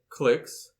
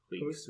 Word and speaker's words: clique: Regardless, it is certain that following a fork caused by disjoint UNL clicks, am I pronouncing that word right? Cliques.